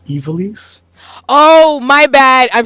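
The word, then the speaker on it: Ivalice: And it's just also, see, I don't want to correct you and stop me from being mean, but it's Evilise.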